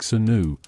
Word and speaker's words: swnw: They were known as SWNW, pronounced somewhat like Senu, the physicians of ancient Egypt.